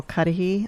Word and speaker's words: Cuddehe: guest today is cudahy author of the politics of unity and invitation to the high road are we pronouncing your name correctly yeah great okay so um